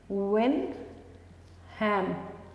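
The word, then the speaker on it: Wilhelm: In 1878 German physiologist विनहैम क्यूने, इनका नाम है विनहैम, एल साइलेंट है, क्यूने।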